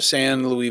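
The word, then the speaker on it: San Luis: So, you know, that whole area, the San Louis Valley, did I say it right?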